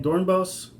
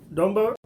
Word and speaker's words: Dornbos: Dornbos. Oops, I always get his name wrong. It's Dr. Dornbos, not Dornbos. I always mispronounce it.